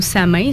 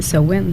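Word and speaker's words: Samhain: matin désolé mais nous on appelle ça sohwin ou sa main certains prononcent comme ils s'écrit en fait la vraie prononciation c'est sowen c'est le premier le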